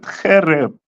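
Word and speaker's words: חרב: It's going to give me Karab, right? That's the most common word for sword. That's the word you would use. Okay. They pronounce it Khereb.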